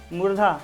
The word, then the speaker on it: मूर्धा: तो आप लोग ध्यान से समझिए, मुर्दा नहीं, क्या लिखा हुआ है, मूर्धा। तो आप लोग ध्यान देखिए दीजिएगा, यहाँ से ना मूर्धा पढ़ लीजिएगा, ठीक है ना, कैसे लिखा हुआ है, मूर्धा, ठीक है ना।